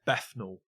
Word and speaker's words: Bethnal: It's Bethnal. Bethnal. Bethnal. Very good. An F sound in the middle, W sound at the end.